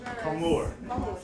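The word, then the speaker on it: Comur: How do you pronounce the shop's name? Comor.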